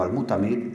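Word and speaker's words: al-Mu'tamid: rey al mutamid que en realidad se debe pronunciar como al mutamid ibn abbad la familia Dead paseaba también por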